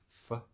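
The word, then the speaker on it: phở: I had pho, I think you say. Pho. I always say it wrong, but it's 6 definitely not tones. pho. Vietnamese language has 6 tones.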